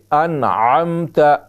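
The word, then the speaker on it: أنعمت: انعمت، انعمت علیہم، انعمت، بہت سے ہم اکثر تلفظ اس طرح کرتے ہیں انعمت، تو عین کو ہم حمزہ بنا دیتے ہیں جو کہ لحن جلی ہے اور وہ حرام ہے۔ تو کیسے پڑھیں گے؟ انعمت، انعمت علیہم۔ یہاں پر دوسری غلطی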